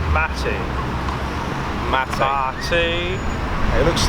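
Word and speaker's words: mate: out and everyone is drinking tea everyone it's pronounced matty mata it looks like weed in a cup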